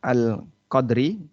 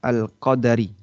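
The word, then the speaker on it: القدر: Jadi kalau ditulis laila itu em kata alqadri ini ada dua cara baca bisa dibaca al-qadari dengan dalnya di fathah bisa dibaca alqadri dengan dalnya disukun. Dua-duanya benar ya.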